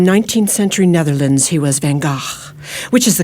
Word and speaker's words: Van Gogh: vincent van gaal in hollywood he was vincent van gogh in 19th century netherlands he was van gaach which is the correct pronunciation but i like your spirit challenging me